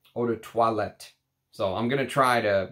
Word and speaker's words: eau de toilette: it and he said that I should be pronouncing uh eau de toilette eau de toilette so I'm gonna try to work on my